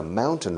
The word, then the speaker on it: mountain: and Asia is a mountain range. A mountain range, una cordillera, is a mountain range, escrito range. Y fijaos cómo pronuncio montaña. Mountain. Mountain. It's like this famous beer in Spain, la cerveza Mau.